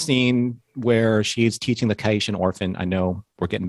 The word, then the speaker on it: Caitian: I love that you say it properly, and I'm like, nah, that's a Cadian, and it will always be a Cadian.